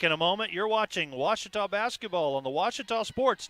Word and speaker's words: Ouachita: Back in Texas, everybody pronounces it Wichita, but really, it's Ouachita. Ouachita.